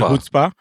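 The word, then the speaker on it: chutzpah: AC stands for adequate chutzpa it's pronounced something else I just got to know froma it's called hoah but of course I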